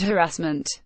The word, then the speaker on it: harassment: Harmon to her credit knew where to place the emphasis on the word harassment others gave it the Frank Spencer treatment stressing the second syllable soon after Miss Harmon